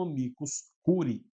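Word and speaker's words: amicus curiae: para dizer para vocês ele se escreve assim amicos Curi mas ele é conhecido como amicus Curi tá vamos lá primeiro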